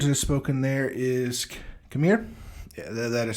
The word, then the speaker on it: Khmer: The language that is spoken there is Khmer. Yeah, that is spelled.